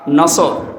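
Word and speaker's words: نصر: নিয়েন আমরা তাফসীরুল কোরআন মাহফিলে প্রবেশ করছি সূরা নসর কোন সূরা বলেন বলেন নসর নাসর নুন সোয়াদ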